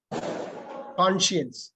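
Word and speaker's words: conscience: அப்படின்னு சயின்ஸ்னு கான்சியன்ஸ் கான்சியன்ஸ் கான்சியன்ஸ் இப்ப இந்த எஸ் வந்து சைலெண்ட் கான்சியன்ஸ் மனசாட்சி சார் ஸ்கிரீன் மேல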